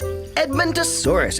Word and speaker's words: Edmontosaurus: I'm Edmontosaurus. That's Edmontosaurus, eh?